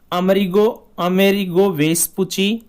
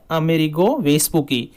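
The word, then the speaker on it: Amerigo Vespucci: इसका नामकरण अमेरिगो वेस्पुची, या इसको कई जगह इसका उच्चारण होता है अमेरिगो वेस्पुकी, इस व्यक्ति के नाम पर इसका नामकरण किया।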